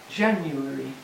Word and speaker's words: January: there are several pronunciations January 4 syllables Jan yummy this one here is Joe Jan you but most English speakers make a three syllable word so I can say